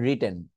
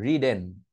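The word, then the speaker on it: written: আপনি রিটেনটাকে চাইলে কিন্তু বলতেই পারেন রিডেন।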